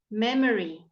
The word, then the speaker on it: memory: out the earth sound memory memory can you hear it may may really and again you can leave it out memory memory brutal brutal